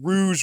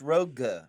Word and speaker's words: Rogue: Yeah, they love Rouge One, Rouge Squadron. It drives me nuts. I don't understand that because it's rogue.